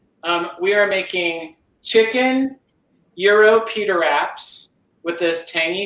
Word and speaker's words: gyro: me and said no it's a greek word and it's pronounced euro and i learned the